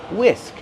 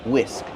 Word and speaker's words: whisk: Whisk. The H is silent. Just use the W sound. WW whisk plus the short is sound like this is whisk. This is a whisk.